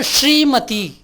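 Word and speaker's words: श्रीमती: திரு என்பது தமிழில், திருமதி என்பது ஸ்ரீமதி, ஸ்ரீமதி. அப்போது இந்த நாக்கை அழுத்தி உச்சரிக்கணும். இது ஷ்ர ஷ்ர ஷ்ர ஸ்ரீமதி.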